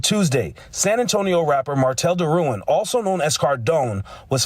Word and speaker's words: DeRouen: My last name is not Duran, it's DeRouen.